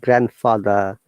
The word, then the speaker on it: grandfather: And also we do not put D in these words like grandfather, grandmother, grandchild, grandson, granddaughter, grandson, anything with grand, okay, not grand, it's grand.